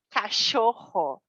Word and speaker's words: cachorro: Atenção à pronúncia, cachorro.